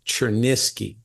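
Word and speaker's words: Cherniske: it's c h r n i s k cherneski Stephen chernis right and it's called caffeine blues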